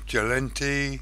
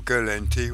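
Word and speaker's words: Gallente: of you you've got jalenti or girl NT whichever way you like to pronounce it caldari andamar now I'm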